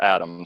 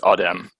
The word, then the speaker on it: Adem: And Uh, it's just Adam, so don't worry. oh, Just is spell Adam? it. Yeah, it's Okay, Turkish. okay. So you Americanized it. How they say it in Turkey? It's Adem.